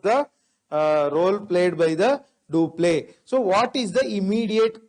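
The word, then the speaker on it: Dupleix: who is the governor of english in india do play was the governor of french in india do play so it is because of duplex role majorly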